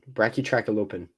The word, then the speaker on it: Brachytrachelopan: spines down its neck the pronunciation in here bra tracky openen bracky track alopen okay um it was